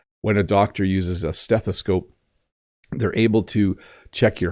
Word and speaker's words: stethoscope: so a stethoscope stethoscope if you break the word into three parts steth a scope um is how it's pronounced this is the thing